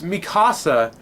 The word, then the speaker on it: Mikasa: what it is but mika or mika it's mikasa how they pronounce them that's okay that's the one thing